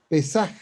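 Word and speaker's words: פסח: es una adaptación del hebreo pasaj o pesaj, con acento en la E, pesaj, que significa paso o salto.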